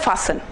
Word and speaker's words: fasten: ऐसे ही हमारे पास एक वर्ड होता है फासन, सीट बेल्ट को बांधना, फासन the seat belt ji, FASTEN जी।